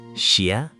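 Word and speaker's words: 谢: In Pinyin, X isn't like the English X in box. It's a soft hissing sound, somewhere between S and Sh with your tongue near the front of your mouth, air leaking out the sides. Xiè. Xiè. Xiè. Okay, less Sh, more of a hiss.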